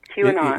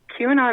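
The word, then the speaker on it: QAnon: all of this stuff who or what is Quon okay Q an on Q and on is that what it's how it's pronounced q andon q and on okay q and on Q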